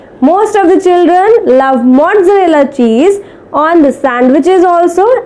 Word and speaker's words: mozzarella: The word is mozzarella. We call as mozzarella. Mozzarella nahi, mozzarella. The word is, or the correct pronunciation is mozzarella.